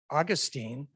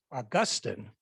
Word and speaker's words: Augustine: last name and say augustine but the preferred pronunciation is augustine with the emphasis on the second syllable right so i'll turn